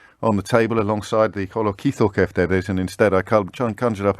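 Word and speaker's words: κολοκυθοκεφτέδες: to point out that I missed a syllable out of the Greek word for courgette or zucchini fritters, which is kolokithokeftedes. Kolokithokeftedes. I missed out the kitho in the middle.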